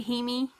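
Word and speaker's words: Jaime: I'm pretty sure it's spelt Jamie, but in the audiobook they say Hemi.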